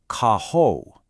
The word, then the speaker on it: carro: Caho. In Portuguese, that double R sound is often pronounced like an H in English.